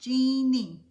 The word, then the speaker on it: Jean: Pronounced Jeannie. Jeannie. Got it. Jeannie. It is, Jeannie. It's exactly it.